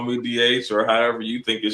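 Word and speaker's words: D'Aych: But the proper pronunciation is, as Cindy said, DH.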